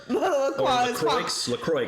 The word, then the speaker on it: LaCroix: LaCroix is the right way to say it. LaCroix. Well, no, there's an X on there. I know, it's French.